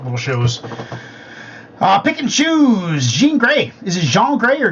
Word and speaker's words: Jean Grae: by Jean Grae or John Grae, Sinister. I found a remix by a Ripper named Sinister, I believe. Jean is pronounced like blue jeans. Okay, Jean Grae.